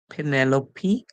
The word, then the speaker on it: Penelope: present birthday deadly Hy Penelope or penelo you can use any pronunciation you choose Courageous Courageous Courageous error